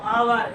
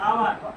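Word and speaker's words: hour: এর উচ্চারণটা এখানে হচ্ছে হোটেলে, সেহেতু কি এইচ উচ্চারণ হচ্ছে এ হোটেল হবে, কিন্তু আওয়ার, এইচ ও ইউ আর, আওয়ার, honest, H ও এন ই এস টি, এইচ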